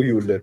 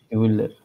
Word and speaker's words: Hüller: Penso sicuramente lei, Sandra Hüsler, com'è la pronuncia corretta? Io il tedesco ho sempre detto Hüller, però io il tedesco lo so più o meno come russo. Hüller, vabbè, se quello sì. Uller.